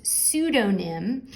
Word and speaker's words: pseudonym: word pseudonym okay so the p is silent so it's pseudonym um and this is